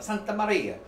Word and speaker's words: Santa Maria: m s Maria Santa you say it like that the Santa Maria roll your Arc I can't do it that well but this is the